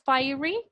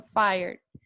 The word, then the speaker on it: fire: fire que tenemos fire la e no suena por ningún lado nosotros no decimos fairy sino fire entonces como ahí no